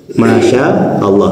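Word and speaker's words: ما شاء الله: Masya Allah, maknya panjang, sya-nya panjang, kemudian a-nya pendek, kemudian Allah.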